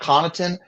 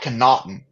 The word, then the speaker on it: Connaughton: listen to my dad my dad can't even pronounce like um he calls Pat connaughton Pat conaughton and it drives me crazy